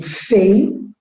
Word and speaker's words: feiura: Eu digo feiura. O U, ele é tônico, ele é forte, mas ele não tem mais acento.